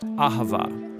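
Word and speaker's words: אהבה: It's pronounced ahava.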